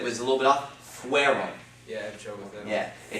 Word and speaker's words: fueron: a little bit off, fueron. Yeah, I have trouble with that. Yeah, it's because you pronounce it almost like an IE, like fiero. It's fueron, okay? Kind of like a W sound.